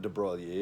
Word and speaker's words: de Broglie: And I might not always say de Broglie instead of de Broglie, or that was my French pronunciation of his French name, de Broglie. But I'll say de Broglie, and do everybody knowing that Americans would speak it that way.